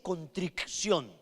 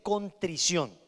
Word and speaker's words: contrición: segundo contrición de corazón contrición no se dice contricción se dice contrición suena uno como disléxico Pero así es la palabra contrición es dolor dolor